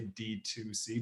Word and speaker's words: DTC: is d to c dtc is like how it's spelled but people just say d2c direct to consumer um